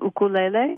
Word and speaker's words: ukulele: Well, if you're observing Hawaiian tradition, it's an ukulele. Ukulele. And if you are not, you can call it a uke, but the Hawaiians sure like it when you pronounce their language well.